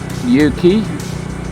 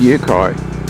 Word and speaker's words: Uki: We're going to go into Yuki, I don't know how it's pronounced, UKI. Take it as you will. I think it's Yuki.